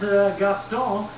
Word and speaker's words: Gaston: US and here comes gastone is the name of it it's a French name and that's the French pronunciation on it and then there's the